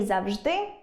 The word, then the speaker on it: завжди: Наприклад, можна сказати і по́милка , і поми́лка; і за́вжди, і завжди́.